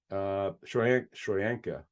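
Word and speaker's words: Tryon-Shoyinka: Joe Tryon Shawinka Shoyanka.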